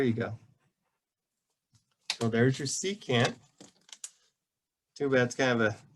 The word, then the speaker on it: secant: c o s sock well actually it's not sock it's secant okay yeah i can't